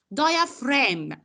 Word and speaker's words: diaphragm: how I pronounce it. diaphragm.